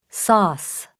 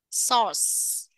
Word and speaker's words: sauce: đúng không Nhưng mà khi đọc á thì nó được nó sẽ phát âm thành chữ O các bạn ạ O các bạn có nghe được không source source August August gi Z